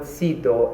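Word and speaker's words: CEDAW: much easier to say to abbreviate it and pronounce the word sido as an acronym acronyms normally are abbreviations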